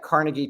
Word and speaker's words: Carnegie: eats with pruto or something I'll have the Carnegie melon please you know uh and so it's